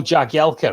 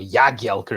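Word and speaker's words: Jagielka: another current ram uh phil jagyelker or yagyalkar if you want to pronounce it correctly there he is from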